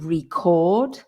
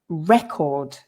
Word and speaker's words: record: for there so the the verb is to record and it's a recording but the physical thing is a record so the stress changes as well on that